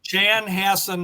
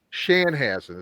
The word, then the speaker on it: Chanhassen: Um let me just correct you on the the pronunciation of the city, Mike. Chan. It's Chanhass. Chanhass. Chanhassen, Minnesota. I'm in Minnesota. I went on Wikipedia and it said and it pronounced it Shanhassen.